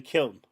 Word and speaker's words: kiln: So yeah, I pronounced the word kill and then the N afterward. I know it sounds like killing, but I'm not saying killing. I'm saying kiln.